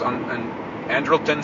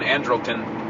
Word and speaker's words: Andrelton: Shortstop was Andrelton Simmons. They've been saying Andrelton. I would tend to pronounce his name Andrelton.